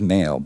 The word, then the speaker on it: Mhaol: So the band is Mhaol, but it is spelled M parentheses Haol.